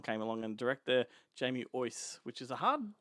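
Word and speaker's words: Uys: The first one came along, and director Jamie Ois, which is a hard name to pronounce because it's pronounced it's spelt U-Y-S, and I've always said use, right?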